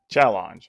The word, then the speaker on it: Challonge: start by talking about challenge and yes it is how it sounds it spelled with an O instead of that first e for whatever reason it's